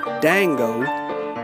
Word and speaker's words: Django: when they started blaming dango that's spelled with a dj but the j is silent paul stood up for